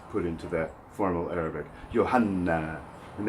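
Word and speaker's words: يوحنا: mursalun min Allahi ismuhu Yohanna. Yohanna is the classical form of the name John, taken from the Greek, put into that formal Arabic. Yohanna. And that N is doubled when you say Yohanna.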